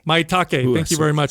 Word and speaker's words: Maitake: Maitake. Maitake.